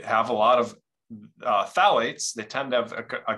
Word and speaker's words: phthalates: BPA free they have a lot of uh phthalates they tend to have a compound a chemical called phthalates it's spelled p-h-t-h-a-l-a-t-e-s super weird spelling so people don't